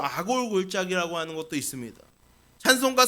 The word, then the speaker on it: 아골: 그래서이 아골이라고 하는 단어는이 히브리어 아콜르 아콜르라고 하는 그 단어인데 우리가 이제 발음을 우리나라 식으로 아골 이렇게 발음을 하게 됐어요.